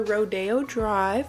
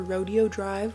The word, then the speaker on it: Rodeo Drive: Up here in Canada, I know we call it Rodeo. Rodeo, Calgary. Calgary Stampede and Rodeo, okay? So for me, I'm like, it's Rodeo Drive, but they pronounce it Rodeo Drive down in Florida.